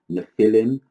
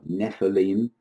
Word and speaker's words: Nephilim: By their actions, these are obviously fallen angels, and their offspring are called fallen ones, or Nephilim, or Nephilim. Is pronounced in different ways.